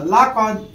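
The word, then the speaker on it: لقد: চলো, লামে কি হয় বাংলায়? লা, জবরে আকা, তাইলে লাম জবর লা আকা। কপে ক, কয়, আর দালে আর জবর কি হয়? আকা হয় না, দালে দ, তাই কি হলো? লা কদ।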